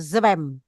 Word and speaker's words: zwem: Zwem satu hembusan. Zwem. Seperti misalnya kan kita dalam bahasa Arab ikro kan ghain ditulisnya reha. Kita kan bacanya satu bunyi jadi ghain. Seperti zwem sama satu bunyi satu nafas ya.